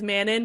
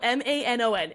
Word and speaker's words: Manon: It's because her name is spelled M-A-N-O-N. In the pronunciation guide, M-A-N is all capitalized, and then it's dash O-N. Yeah, so Manon.